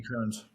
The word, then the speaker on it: Kearns: that earned him the prestigious, and help me pronounce this right, Robert E. Kearns Award. Is that correct? Yes, the Robert E. Kearns.